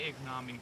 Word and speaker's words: ignominy: Ignominy. I'm just gonna say ignominy, because I've never heard it before.